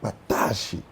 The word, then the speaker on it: Kpataashie: shortly let's have a conversation with them that patashi traditional food bazaar did I pronounce that correctly yes stop mention it again